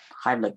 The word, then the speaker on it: Heimlich: Hey, Heimlich maneuver. What's a Heimlich maneuver? Did I say it wrong? No, it's a thing you can do to. you said it right.